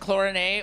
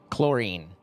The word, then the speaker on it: chlorine: The worst thing probably about being here is that by now you have no idea if it's actually pronounced chlorin or chlorine. Chlorine. We Americans say chlorine.